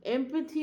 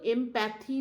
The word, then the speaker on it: empathy: এমপ্যাথি মানে হচ্ছে, উচ্চারণটা কিন্তু এমপ্যাথি নয়, এমপ্যাথি। এমপ্যাথি এমপ্যাথি হচ্ছে সহানুভূতি, অর্থাৎ